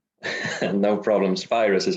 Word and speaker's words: Spirus: Spirus is how we pronounce it.